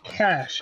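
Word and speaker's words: cache: Snapchat let's just get this out still it's pronounced cash as in k a h it's okay to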